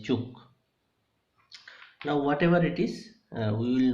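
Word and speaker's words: Ćuk: So some people call it as cook, some people call it as kak, and actually the pronunciation is chuk.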